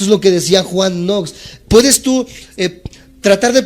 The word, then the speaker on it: Knox: grandes hombres se llama Juan nox se escribe K n o x kn n o x